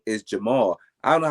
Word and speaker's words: Jamal: Just say Jamal, because if you gotta break your syllables down like that, why is it so hard? It is Jamal.